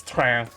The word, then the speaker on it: train: Because, like, train in French is train. Train. Train. Where I'm like, it's spelled the same. There is no accent. This is just how you pronounce.